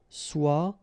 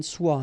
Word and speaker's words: soit: Okay, so as usual, good news is that soit, and then soit here. You write them differently, but then you pronounce them the same way.